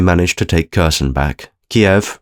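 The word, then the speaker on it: Kyiv: to take Kirsten back Kiev remains defiant zelenski is looking old we've been instructed to pronounce it cave the Russians have cut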